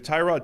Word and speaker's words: Tyrod: He wasn't trolling people or like pranking them saying that actually my name's pronounced His name's Tyrod. Tyrod.